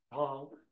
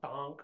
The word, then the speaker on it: Tank: tank but it's pronounced tank that's not quite right tank without the aspiration um the nearest town